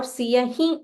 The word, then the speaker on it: सियहि: Siya him. You can either say Siya him dikava or Siya hi dikava. But when you say he, make a slight nasal sound.